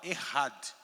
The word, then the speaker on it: Echad: E aqui está a palavra Ehad. Tá? Se escreve Echad, com CH. Echad, né? Ehad.